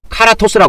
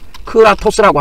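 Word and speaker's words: κράτος: 그래서이 자기가 가지고 있는이 권세를 어 힘을 갖다가 이게 나타내는 거 힘을 갖다가 직접 사용해서 통치권을 행사하는 것을 뭐라 그러냐면에 카라토스라 그래요. 카라토스 아이 크라토스 크라토스라고 합니다.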